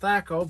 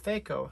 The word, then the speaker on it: THAC0: talk about fako or feiko i've seen it apparently it's pronounced both ways i always heard it pronounced thako but uh let's just